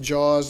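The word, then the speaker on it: JAUS: unmanned systems jus but pronounced jaws like it's a W so that's been around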